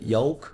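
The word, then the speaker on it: yolk: Would they say would you say the L here? Yoke. Yoke. No. So, it's a again a mysterious silent L.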